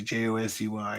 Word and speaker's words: Josey: Josie, how do I pronounce Josie? Josey.